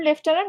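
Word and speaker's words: lieutenant: উচ্চারণ লেফটেন্যান্ট, বাট এখানে কোনো এফ নাই, এটা একটু দেখবা।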